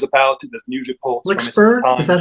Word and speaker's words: Flixborough: Flixborough, is that how you say it?